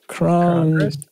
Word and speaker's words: crong-gress: I got a crong-gress. I had to put a hyphen in it to make sure people pronounce it right.